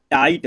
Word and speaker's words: tight: फिर देखिए TIGHT इसको पढ़ेंगे दोस्तों टाइट।